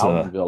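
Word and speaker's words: Loudonville: Now, there are some of those in Lowdenville, I think. Um, how do you pronounce that? Loudville. Loud. Lowdenville. It's Loudenville. Like Louden County.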